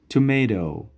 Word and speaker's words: tomato: tomato tomato tomato و یاد داشته باشین در وسط تیک از به شکل د تلفظ میشه. tomato tomato ای باز در انگلیسی برطانوی tomato تلفظ میشه.